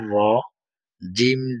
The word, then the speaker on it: রাজিম: র জবর র, জিম জের ইয়াই জজম জি, জি, জি। জিমটা ঠিক না, অনেকে জাল, জিম, ঝা সবগুলো একই রকম বলে না।